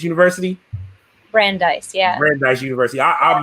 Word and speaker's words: Brandeis: career at i want to make sure i pronounce it right brandies university brandeis yeah brandeis university i i'll mention the club